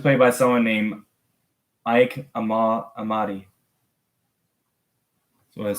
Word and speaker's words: Amadi: Amadi. That's how you say it. Jax was played by someone named Ike Amadi.